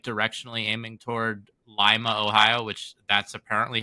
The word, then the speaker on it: Lima: like directionally aiming toward Lima Ohio which that's apparently how you pronounce it okay um it's it's not pronounced like the one in Peru okay but um yeah